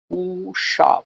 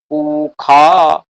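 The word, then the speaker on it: পূষা: না, স্বস্তিন উষা বিশ্ববেদাহ, এখন পরিষ্কার আছে স্বস্তিনঃ উষা, মূর্ধন্য ষ, পরিষ্কার মূর্ধন্য ষ, কিন্তু আমি দেখছি ঋগ্বেদীয় উচ্চারণ করছেন স্বস্তিনঃ উখা। আরে মশাই, খ কোথায় করছেন?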